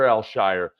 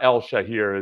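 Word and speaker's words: Al-Shaair: you look at the word the actual proper pronunciation is Al it's either actually it's actually elsh or Elshire but it's not El shahir as you might think by the uh the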